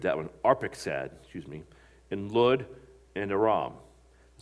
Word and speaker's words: Arphaxad: The sons of Shem were Elam and Ashur and Arapskad. I butchered that one. Arphaxad, and Lud and Aram. The sons of Aram were Uz and Hul and Gether and Mash. Arphaxad became the father of Shelah, and Shelah became